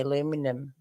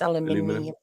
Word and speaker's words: aluminium: to some yeah but you're missing the eye at the end when you say aluminum it's aluminium aluminum aluminium yeah aluminum